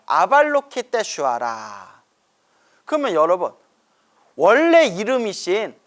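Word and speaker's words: Avalokiteśvara: 근데 관세음보살님의 원래 산스크리트어 이름이, 인도 산스크리트어 이름이 아발로키테슈와라예요. 아발로키테슈와라. 그러면 여러분, 원래 이름이신 아발로키테슈와라 연불하는 게 더 가피를 빨리 받을까요?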